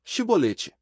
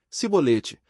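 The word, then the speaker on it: chibolete: respondesse que não diziam Então diga xibolete se ele dissesse se bolete sem conseguir pronunciar corretamente a palavra prendiam não me matavam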